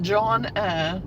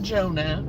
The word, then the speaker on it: Johnna: Well, you pronounce it Johnna. It's not Jonah, it's Johnna.